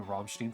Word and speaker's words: Rammstein: So it's Rammstein. Okay. Almost. Look, I never said I was good at pronunciation. I guess I gotta hold on that M a little longer since there's two of them.